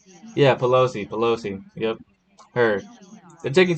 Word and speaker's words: Pelosi: is that am I saying it right yeah Pelosi Pelosi yep her they're taking too long in